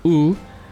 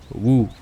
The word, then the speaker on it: Wu: This is the first time Zhuge Liang mentioned Wu in the right way. So not Wu, but it's Wu. So it's really hard to pronounce.